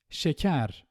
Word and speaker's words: şeker: Şeker. As you can see, the first one is a normal E and the second one is A. Şeker.